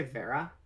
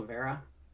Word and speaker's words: Vera: people say Vera because I say Vera like aloe vera but like I like